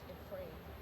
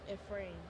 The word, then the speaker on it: Ephraim: His name is pronounced Ephraim. Okay, Keith loves to tell me when I mispronounce something. So- Yes. Okay. All right. What is the pronunciation? Ephraim. Ephraim Bridger and Mira Bridger.